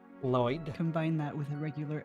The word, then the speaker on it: Lloyd: You make the sound by putting the tip of your tongue on your pallet like you're pronouncing an L. And then you kind of breathe past both sides of your tongue. Sounds kind of hissy.